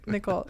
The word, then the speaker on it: Nicole: Melissa ni Melissa banon Nicole it's Melissa spell n i o l e so the E is silent yeah it's not nii no all right that